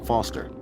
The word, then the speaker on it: Foster: with pickle it does I'm Foster I'll remember that easy because your name rhymes with fossil and you're old thanks